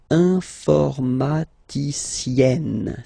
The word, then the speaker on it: informaticienne: And you get the sound informaticienne, sienne. Remember, E and then double N, or then it could be double L or double consonant here. You open your E, so it's E, informaticienne.